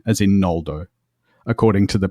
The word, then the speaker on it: Noldo: So originally, it was Ngoldo, not Noldo. So it was like NG, but like the NG in sing, where it's sort of that. Exactly, without the G. Without the hard G.